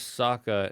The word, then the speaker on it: Sokka: haiku challenge, he's like, my name is Sokka. It rhymes with Akka.